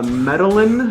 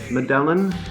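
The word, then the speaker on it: Medellín: Actually, they are from Medellin. I think that's how you pronounce it, Medellin, Colombia.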